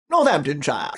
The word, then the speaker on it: Northamptonshire: Northamptonshire.